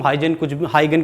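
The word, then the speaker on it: Huygens: लेकिन फिर भी हाइगन के, मैं हाइगन बोलता हूं, तुम हाइगन कुछ भी बोल सकते हैं, वैसे मेरे ख्याल से प्रॉपर प्रोनाउंसिएशन हाइगन है।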